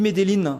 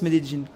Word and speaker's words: Medellín: Je suis de retour à Medellín, parce qu'on dit Medellín, c'est le nom de la ville, mais on prononce Medellín.